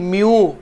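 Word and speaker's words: μ: ओ भाई म्यू ये लेटर को बोला जाता है, ये जो सिंबल है ना कोएफिशिएंट ऑफ फ्रिक्शन का इसको म्यू बोलते हैं, MEW।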